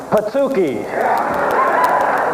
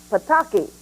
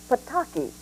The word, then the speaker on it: Pataki: News at 11:30 tonight so how do you pronounce the governor elect's last name we called his office to find out here goes goes it's Pataki can you say Pataki joh a source of